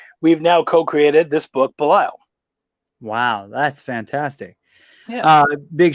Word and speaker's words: Belial: And I watched the Kickstarter video for, now how do you pronounce it again? Belial.